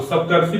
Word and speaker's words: सप्तर्षि: अर का उच्चारण देखिए इसमें बनेगा, आपको सप्तर्षि पढ़ेंगे ना तो सप्तर्षि में आपको ये उदाहरण मिलेगा, आपको यह उच्चारण मिलेगा सप्तर्षि में अर का, सप्तर्षि